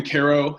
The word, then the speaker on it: Cairo: I grew up in Cairo Illinois it's spelled like Cairo Egypt but we mispronounce everything in southern Illinois so I grew up in Cairo Illinois it's a pretty